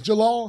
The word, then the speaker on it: Djalal: joined by a fantastic guest his name is Jalal he is the president of ometria and we are super excited to have him here today hi Jalal how are you good good thanks for having